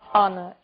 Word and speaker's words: honor: O som do H. pronunciado desde a garganta como em hotel e mudo em 3 casos. Our, honest, honor.